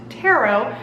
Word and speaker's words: Tarot: this is why we call it Tarot and you don't pronounce that T because it's French though if you are